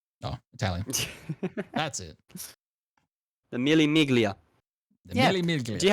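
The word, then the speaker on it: Mille Miglia: iconic mil Mig Miga I forgot how to pronounce it Miga Mig it's Italian yeah oh Italian that's it the Milly miglia the mil Mig do you have a clip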